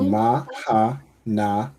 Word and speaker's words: Mahana: So ma, you pronounce the ha, and then the na and the ha are connected. Right? So mahana.